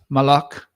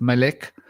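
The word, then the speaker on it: מלך: the word, meaning king, which is Malak, or could be pronounced Melek, or could be pronounced Moloch, right? Because traditionally the vowels are not there.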